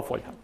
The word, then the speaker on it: фольга: Правильний наголос. Алюмінієва фольга.